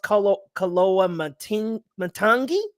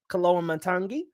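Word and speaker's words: Koloamatangi: I think his last name is pronounced Kaloa Matangi. Kaloa Matangi.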